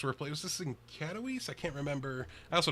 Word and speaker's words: Katowice: Was this in Katowice? I can't remember. I also don't know if I say that correct. Yeah, it's Katowice. Katowice.